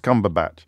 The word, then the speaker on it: Cumberbatch: Yeah, and it's spelt differently. Is it spelt differently as well? But it is pronounced Cumberbatch. It is. I suspect it's got no T in it then, has it, like Sandbatch?